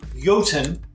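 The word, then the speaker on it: Jotun: okay you ready industrious at a man time yotan j-o-t-u-n i know how to play it i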